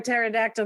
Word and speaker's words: pterodactyl: Why can't you hear a pterodactyl going to the bathroom? Okay, why? Because the P is silent.